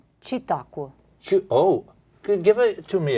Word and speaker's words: Çitaku: ambassador from Kosovo, uh Valora, and is it pronounced Katku? Chiakqu. Oh, give it to me again. Chiakui C I T A K U.